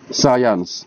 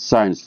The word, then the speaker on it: science: The correct pronunciation should be science, not science. Because as I have said, it is composed of two syllables.